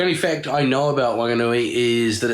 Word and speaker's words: Whanganui: uh here in wanganui the local ewe don't pronounce the whs with an F sound so although it's w h wanganui it's still wah wanganui not whanganui so there you go that's about the only